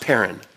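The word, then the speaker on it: πέραν: word parent is P er a n is pronounced parent and it literally means this let me just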